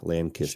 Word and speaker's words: Lancaster: It shouldn't be an A. It should be a I. Lancist.